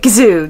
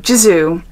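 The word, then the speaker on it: Gisou: Gazo is that how you say it gizo jizo gizo I'm going to say gizo and this is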